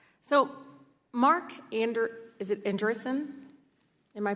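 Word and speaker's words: Andreessen: you Mr Marcus so Mark Ander is it andrison am I pronouncing that correctly uh yes congresswoman Mark erson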